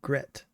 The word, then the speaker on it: Gret: Rhymes with let or set. So Gret.